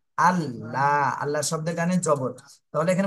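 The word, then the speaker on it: الله: হামজাহ লাম জবর আল লাম খাড়া জবর লা আল্লাহ শব্দের জানে জবর তাহলে এখানে মোটা করতে আল্লাহ এরম বলা যাবে না ল বলতে হবে ল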